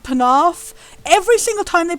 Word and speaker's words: Penarth: name of like the region of Wales called Penarth. Every single time they pronounce it Penbarth, which is not a place in Wales ever.